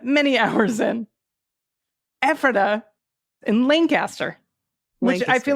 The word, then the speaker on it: Lancaster: Lancaster is Lancaster.